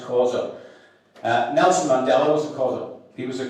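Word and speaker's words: Xhosa: spelled X H O S A but it's pronounced Kausa.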